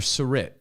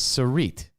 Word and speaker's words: Sarit: tutor her name was i called her surit surit i found out recently is sarit but guess what i